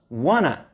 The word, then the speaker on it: want to: Want to before a verb, in this case, go, you may pronounce, you don't have to, you may pronounce wanna.